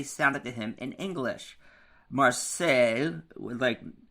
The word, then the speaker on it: Marseille: Marseille, with sales at the end, Marseilles.